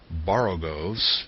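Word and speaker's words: borogoves: the first o in boros is pronounced like the O in borrow I have heard people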